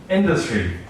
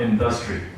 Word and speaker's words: industry: And industry is not industry.